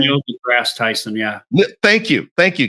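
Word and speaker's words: Neil deGrasse Tyson: is this is it Neil Ty the grass I always mess his name up what's his name how do you say his name Neil the grass Tyson yeah thank you thank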